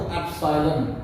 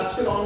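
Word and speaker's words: ε: ये बोलते हैं इसको एप्सिलॉन। क्या बोलते हैं इसको? एप्सिलॉन। कई लोग इसको एप्सिलॉन भी बोल देते हैं। वो इंग्लिश की प्रोनाउंसिएशन का फर्क है।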